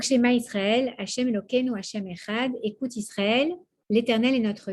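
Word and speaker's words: אחד: Alors, quand on dit le Echad, on insiste sur le Dalet. Et on essaie de prononcer le Dalet comme il se prononce à la base, qui n'est pas un de, mais un de. Presque le TH américain.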